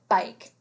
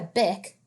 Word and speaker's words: bike: yeah it's an i we know we can't ride a bic that doesn't make any sense big but if we follow the rule of silent e and we think that it makes all vowel sounds say its long name or say their long name that might change this word bike that's exactly right so